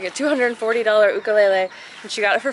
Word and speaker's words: ukulele: It's not ukulele, it's ukulele. And they were giving one away through a dancing contest and my sister actually won. So I think they said it's like a $240 ukulele and she got it